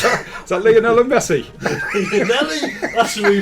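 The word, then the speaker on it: Llanelli: 166 leonelli is that is that leonell Messi leonelli that's we pronounce it it's leonelli the rich written Lei anyway moving on moving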